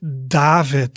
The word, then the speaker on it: David: the word david right david so you hear in the beginning i make d and in the end i make a t sound david then we have